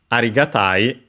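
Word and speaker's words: 有り難い: Arigatai, luckily also accented, so on the ta, on the second to last syllable, as per usual.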